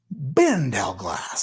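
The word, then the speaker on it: Bindelglass: Bindleglass. Evan Bindleglass. Oh, he just actually is trying to tell me how to say it. Bin Del Glass.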